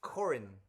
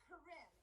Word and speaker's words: Corin: It's Corin. Corinne. It's Corin.